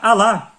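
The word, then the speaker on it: الله: Deus para os árabes, em árabe eh se pronuncia Alá.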